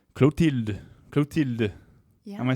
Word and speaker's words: Clotilde: Clotilde.